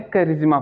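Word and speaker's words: charisma: करिश्मा में भी क्या है, सी एच के बाद ए आर है, लेकिन बाद में क्या आ गया है, वॉवेल आ गया है, जिसकी वजह से हम इसको क्या पढ़ रहे हैं, क पढ़ रहे हैं, करिश्मा पढ़ रहे हैं।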